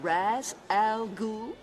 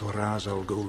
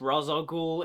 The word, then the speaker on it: Ra's al Ghul: Am I pronouncing this right? Mr. Raz Al Ghul? Mr. Raz Al Ghul? I'm sorry, love, but no. You did not say that properly. But is Ra's al Ghul immortal?